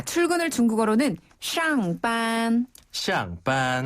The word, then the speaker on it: 上班: 그러니까 출근은 上班. 네. 퇴근은 上班. 그리고 퇴근은 下班. 네. 샹과 시아입니다. 그렇죠. 샹과 시아인데요. 이때 샹은 윗상자, 시아는 아래 하자 발음이에요.